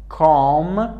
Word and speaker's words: calm: Calm پیش از M قرار گرفته تلفظ نمیشه.